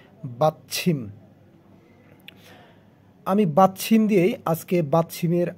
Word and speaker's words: 받침: চ এবং ছয়ের মাঝামাঝি উচ্চারণ ছিম, ছয় রসিকার ছি মিউম, ছিম, বাচ্ছিম।